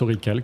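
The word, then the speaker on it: orichalque: me l'avais signifié Jérôme ça se prononce orical alors je pensais que c'était orichal mais c'est orical problème comme tu veux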